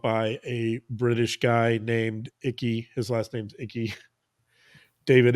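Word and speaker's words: Icke: the way developed by a British guy named icky his last name's icky David icky I think I'm pronouncing that right no yeah you are he's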